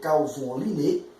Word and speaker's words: Carl von Linné: A pronúncia aqui é Carl von Linné, que viveu de 1707 a 1778, e ele, inclusive, gostava de assinar o seu nome, tá?